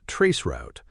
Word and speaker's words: tracert: Another important tool is spelled t r a c e r t but pronounced traceroute.